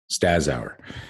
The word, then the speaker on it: Staszower: Staszower. Yeah. Okay, that was close too. That was good too. Good job. Yeah. Good job Sound like you pronouncing. put an H in there.